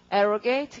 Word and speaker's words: arrogate: 자, 그 다음에 사칭 횡령하다 발음 arrogate. 그 다음 명예를 손상시킨다 이러면은 깎아 내리니까 접두어가 우선 D를 붙일 테고 모두 다 그 강세가 접두어에 있잖아요. 지금 abrogate, arrogate 그러니까 어떻게 derogate 이렇게 되는 거죠.